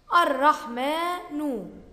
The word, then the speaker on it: الرحمن: الرحمن، الرحمن، بعد الميم ألف تنطق ولا تكتب.